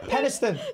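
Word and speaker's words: Penistone: it does doesn't it yeah yeah penone is pronounced it there we go peniston pronoun it is actually spell penis Stone that's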